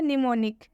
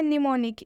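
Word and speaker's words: mnemonic: अपवाद है निमोनिक जिसमें हम साइलेंट होता है बाकी कोई भी शब्द हो किसी भी शब्द में हम एम को साइलेंट नहीं करेंगे हर शब्द में एम्स का प्रनंसीएशन हम करेंगे सिर्फ एक निमोनिक को छोड़कर बिल्कुल सही बात कहीं आपने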